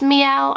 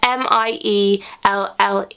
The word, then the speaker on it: Mielle: This is the, I think it's pronounced Mielle, I'm not too sure. It's Mielle, and this is the Rosemary Mint Hair kind of scalp strengthening oil.